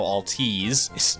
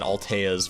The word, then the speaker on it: Altiz: Also getting that pronunciation correct now, Altiz. I was corrected on that in the comments. Sorry about that. Sorry, I said Alteas for the longest time. Altiz makes much more sense.